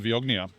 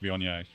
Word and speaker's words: Viognier: We're gonna we're gonna drink some Vogna. Now, um just to be clear, it is pronounced Vion.